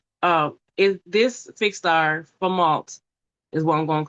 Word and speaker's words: Fomalhaut: is uh I got to break it down Fomalhaut. Fomalhaut. And it's spelled f o m a l h a u t.